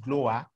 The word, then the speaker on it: GLOWA: welfare association um we it is abbreviated and we pronounce it glower it is a child